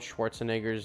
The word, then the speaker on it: Schwarzenegger: last part of Arnold Schwarzenegger's name or however you spell it Schwarzenegger that's how you say it I officially am sick